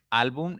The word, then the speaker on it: álbum: Álbum es una palabra de 2 sílabas. ¿Listo? La mayor intensidad está en la segunda sílaba, contando siempre de derecha a izquierda.